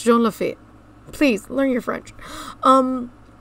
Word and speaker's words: Jean Lafitte: to be watching uh offhand Disney's videos he mispronounces it every time it is jean-lefeet it's not that heart he goes John Lafitte or John lefoot or John he does it like 20 000